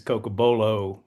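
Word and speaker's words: cocobolo: stuff, but yes, the right pronunciation is Cocabolo, but we don't like to drag it out. We just shorten it, make it easy for Well, I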